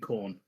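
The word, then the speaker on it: Khorne: Because you've said it twice now and it doesn't sound like they're saying corn. Am I pronouncing it wrong?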